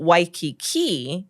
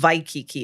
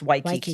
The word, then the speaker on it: Waikiki: But Waikiki is with the W sound. It's not Waikiki, it's Waikiki.